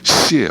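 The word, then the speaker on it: 西: 본향으로 생각하는 것 그것이 시예요 시 그 씨가서 서쪽 서자를 중국말로 발음하면 시가 됩니다 시예요 그래서 어 모든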